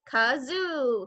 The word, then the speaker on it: kazoo: time for a game kazoo it is spelled how it is sound k makes the k sound done ah zoo like a petting zoo kazoo kazoo you'll find it